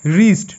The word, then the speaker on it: wrist: Next রিস্ট, WRIST, রিস্ট। রাইট, WRITE, রাইট। প্রতি ক্ষেত্রে W silent, ওকে।